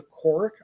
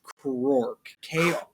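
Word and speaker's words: Krork: a highly evolved species they called the cork I think they are and probably mispronouncing it uh these this race will eventually devolve into the Orcs that we know when love from 40 came out excuse me it's pronounced Quark okay I apologize in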